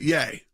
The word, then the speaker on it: Ye: started with Kanye West ye yay yay yay said it right yay going on rants on